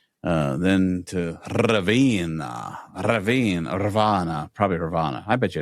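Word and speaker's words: Ravenna: Raana. Probably Raana. I bet you it's Raana. Raana. Uh, we read that you have to roll your R when you say Raana.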